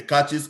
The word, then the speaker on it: cache: Then we'll go and the caches and how to clear them off your system, because if they are there, it's going to be like kind of a problem.